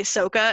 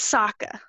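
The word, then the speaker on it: Sokka: pronunciations like really bad he did in fact say sooka and I wanted to strangle him it's Saka yeah yes Saka Saka what did I say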